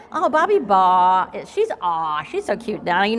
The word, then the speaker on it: Baugh: Her name rhymes with aw, y'all, so it's Bobbi Baugh. Oh, Bobbi Baugh, she's so cute.